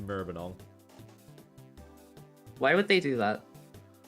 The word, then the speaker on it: Maribyrnong: Mary Bjornog. MARIBYRNONG. There we go. That's the town. That's the town name I've given. I could have put it in the chat, but it's pronounced Merbenong.